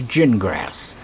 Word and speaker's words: Gingras: It's pronounced like a gin, cotton gin, right? And grass like what you have in your front yard.